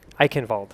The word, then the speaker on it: Eichenwalde: speak any German so I'm not the authority on how to how to pronounce it but I've been told it's I Canal okay and here it